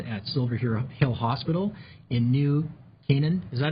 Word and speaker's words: New Canaan: She's the adolescent consultant at Silver Hill Hospital in New Canaan. Is that how you pronounce that?